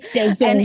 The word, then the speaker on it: DAZN: DAZN. And you say it like DAZN.